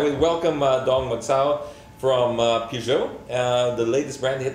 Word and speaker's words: Peugeot: Now we welcome Dong Magsao from Peugeot, the latest brand to hit the country. Is that how you pronounce it?